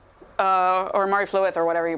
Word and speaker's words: Mari Lwyd: I'm thinking like a Mari Lwyd, or Mari Flywyd, or whatever you pronounce it. The Welsh Christmas horse that shows up as a spirit. Mary Lwyd? Mary Lwyd is how you say it.